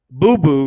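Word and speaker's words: Bubu: Boo Boo rather, is spelled B-U-B-U.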